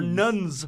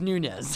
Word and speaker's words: Nunes: It looks like it should be said Nunes. Or Nuns. Nuns. Nunnies. Well, it's Nunez.